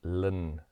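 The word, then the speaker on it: ln: by l n 2 which we call lin 2. now i know linda's l i n phonetically but we're going to just say lin log base e is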